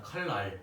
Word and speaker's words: 칼날: 같은 거 있잖아요 칼날 칼날을 이제 발음하면 어떻게 된다 칼 날 아 칼랄 그지 랄이 된다는 거예요 랄 요렇게 됐나요음 어떻게